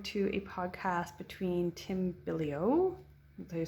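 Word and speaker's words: Bilyeu: listening this morning to a podcast between Tim bilio until you say his name Billy you billio um he does a podcast called impact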